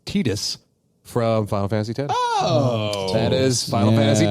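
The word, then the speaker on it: Tidus: Star Wars the Force Unleashed nope it was uh the voice of apparently its name is pronounced Titus from Final Fantasy 10.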